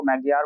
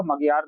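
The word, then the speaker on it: Magyar: जो लैंग्वेज थी वो मैगियार बोलती थी आधी पपुलेशन जो लैंग्वेज थी मैगियार इसको याद रखिएगा मगियार नहीं है मैगियार करेक्ट प्रोनाउंसिएशन और बाकी जो थी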